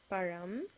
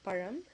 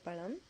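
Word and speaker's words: பழம்: sabahada water fruit is param again the ra sound so param if you really can't pronounce it it's okay to say palam not the best way but we understand you're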